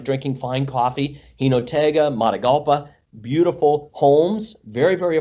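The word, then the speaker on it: Jinotega: I like Gino Tig. I'm sure I'm pronouncing it wrong. Yeah, Hinotega.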